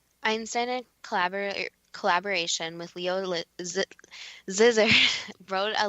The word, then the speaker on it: Szilard: Leo Szilard, Dad, you'll have to pronounce that too because I'm butchering it. Szilard.